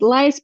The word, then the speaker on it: List: It was Arthur List or List. Um I know there it should be pronounced lies but here everyone says author's list.